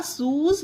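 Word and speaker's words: shoes: एस एच ओ ई शू मीस होता है जूता शूज हो जाते हैं बहुत सारे जूते तो इन्ह शूज पढ़ा जाएगा यह है रेज यह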